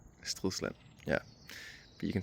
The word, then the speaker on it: Stridsland: Okay, yeah, speaking of pronunciation, I say STRIDSLAND. People say STRIDSLAND, some say Barbra Streisand. In Danish it's called STRIDSLAND. STRIDSLAND, yeah.